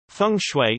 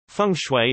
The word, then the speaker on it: feng shui: Feng shui, Chinese, feng shui pronounced F, Wei, listen, also known as Chinese